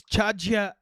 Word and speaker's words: Chaijia: Ahead is Chaijia Alley. Even pronounced it properly.